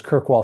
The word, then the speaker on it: Kirkwall: I know how to say this one it's kirkwall Scotland is the next one so how did